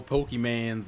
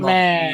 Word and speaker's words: Pokémon: Yeah, she does, because I've seen people do that whole Pokemans and shit. Like my mom. Pokemon. Oh, that's my sister. How she pronounces that Pokemon.